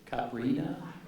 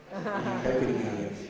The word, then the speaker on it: caipirinha: And how do you say this? Caprina? Caipirinha. Yeah.